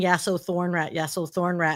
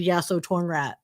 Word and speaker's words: Yasotornrat: assumed it'd be that's how you pronounce it. But over time, people just kept saying Yaso Thornrat, and he's like, "Oh my god, I hate that.